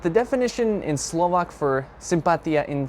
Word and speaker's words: sympatia: But the words are sympatia and sympatický. I hope I pronounced that right.